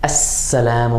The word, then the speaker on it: السّلام: Alif lam is always going to be written as alif lam, but in some cases we're not going to hear the sound of the lam. It's not always going to sound like al.